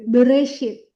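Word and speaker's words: בראשית: Berarti yang ini juga kita bacanya vokal, makanya jadi bereshit, bereshit, bereshit.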